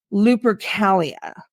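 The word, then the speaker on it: Lupercalia: gonna say this wrong I believe it's pronounced Loper Calia sounds right to me okay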